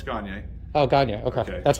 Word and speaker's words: Gagne: No, it's Gagne. Oh, Gagne. Okay. Okay. That's why I asked. All right. Cool. If you can't pronounce it that way, think of Kanye, but Gagne.